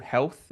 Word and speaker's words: Healf: American, but they're on there's a website called Health, which is spelled HEALF, Health, and they're a reseller for the sauna blankets.